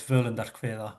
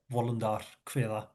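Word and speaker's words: Völundr: old Norse poem which I know as Verlanda which is kind of modern Icelandic pronunciation but uh yeah wander or something like that in um old Norse pronunciation.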